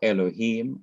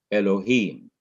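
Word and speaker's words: אלהים: verse 1, Bereshith, bara, Elohim, on each of the last syllables of these words, you have different accent marks, indicating that the last syllable of each word is to be stressed or emphasized.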